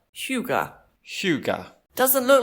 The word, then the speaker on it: hygge: to say it, and I've recently learned it's pronounced Hygge. Hygge. Hygge.